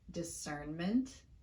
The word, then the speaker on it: discernment: The N in these words occurs in the stressed syllable. We typically don't reduce a sound when it occurs in the stressed syllable of a word.